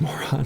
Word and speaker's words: Moran: You're told you have a lot of memorable D&D characters you've created in the past, but you and your other's favorite is Moran, pronounced Moron.